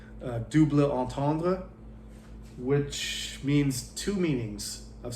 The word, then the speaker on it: double entendre: This one is called a double entendre, which is a terrible pronunciation of the French double entendre, which means two meanings of something.